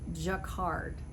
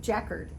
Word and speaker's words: jacquard: swear to you that i always thought this was jacquard like rhymes with captain picard from star trek nope it's checkered and it refers to